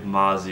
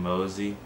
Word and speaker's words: Mozzy: Now, I believe Mozzie is the correct way to say it. We were saying Mosey in the last one, and people were very upset.